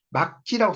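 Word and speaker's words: 맑지: 요게 말지라고 나올 것 같은데 막지라고 써놨잖아요. 막지. 그렇죠? 여기 보면 그 7번 규정에 말지인데 이걸 말지라고 안 읽고 막지라고 읽었잖아요.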